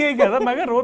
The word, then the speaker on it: Marais: नहीं जीते रहे वो, मरे नहीं। अरे MARAIS नाम है उनका। अच्छा मरायस नहीं है? नहीं वो प्रोनाउंस इस तरीके से होता है।